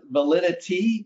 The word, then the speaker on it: Validity: It's not valid. It's the word validity, but it's validity. It's pronounced Validity.